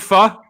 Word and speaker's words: pho: Do you guys make pho? Yeah, I mean, So I want you to make a T-shirt. The Vietnamese food is called pho, but it's pronounced pho, and you should make shirts that say "down to pho."